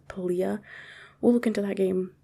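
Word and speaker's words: Palia: or pallia are trying i say palya but i think it's actually pronounced poliah we'll look into that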